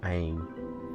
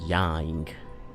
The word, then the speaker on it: Yang: Because the way it sounds like it's Mr. Aang, the Y isn't pronounced when Mark says it. Mr. Aang, when it's supposed to be Mr. Yang.